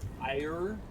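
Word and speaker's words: Aiur: their home planet it's spelled like a i u r so ire right um but when restock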